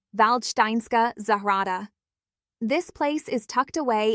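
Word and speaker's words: Valdštejnská zahrada: a Netflix period drama, Waldstein Garden, or as the locals say, Valsteinska Zahara.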